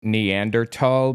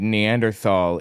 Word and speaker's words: Neanderthal: Kind of like how technically the word Neanderthal is pronounced Neanderthal because Germans don't have a TH sound, and Neanderthal is the English Anglicization or whatever.